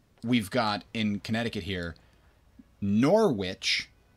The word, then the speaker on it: Norwich: got in Connecticut here Norwich which is spelt exactly like it sounds n o R which like the evil cackling thing not like hey which one of these are we gonna choose but Pedro Pedro Pedro